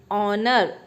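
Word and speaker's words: honour: अब एन ऑनर, ऑनर एच इसमें silent होगा, ऑनर, इसलिए एन ऑनर।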